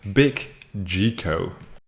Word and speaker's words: Biggico: affiliate CPA marketing Network big G Co that's how I would pronounce it g IC o---- this network has more